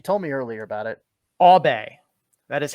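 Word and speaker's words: Åberg: this sean you told me earlier about it obey that is how it's pronounced in sweden it's not auburn or ebert albay pontus abe okay victor lodine andrew agus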